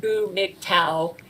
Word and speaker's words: GMGTOW: And they actually formed a group where they formed a group that they called, where they said GMGTOW, pronounced Boo Mig Tau, which means they have a new name.